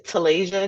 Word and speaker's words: Talasia: So my YouTube is Talaysia TV. So Taslayia is my name is spelled T A L A S I A T V.